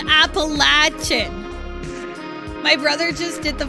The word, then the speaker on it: Appalachian: I cannot tell you how much of a pet peeve it is if somebody pronounces Appalachian. Like, go away. It's called Appalachian.